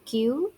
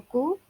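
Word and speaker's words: 九: 8 hachi, 9 kyu ya atau ku bisa ya, kemudian 10 ju.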